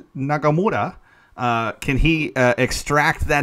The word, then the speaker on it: Nagamura: you know pow could god i need to pronounce it right nagamura uh can he extract that intensity out of